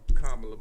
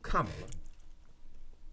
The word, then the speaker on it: Kamala: we G Kam my bad I be saying kamla my bad Kamala am I saying K yeah K I ain't